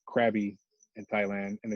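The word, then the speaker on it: Krabi: spell it in thai in thai language it's more of a like a good like a g sound like grabby instead of krabby so like little things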